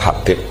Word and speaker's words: Habib: Itu di harakatnya kitab itu ada yang nulis Hubab. Yang benar Oh, nggih. Yang benar itu bacanya Habib.